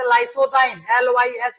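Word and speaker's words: lysozyme: नाम है लाइसो जाइम लाइसो जाइम देखो एल वाई एस ओ जड वाई एम ई लाइसो जाइम ये हो जाएगा तुम्हारा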